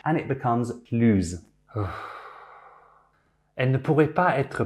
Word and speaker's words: plus: the vowel or silent H, and it becomes plus.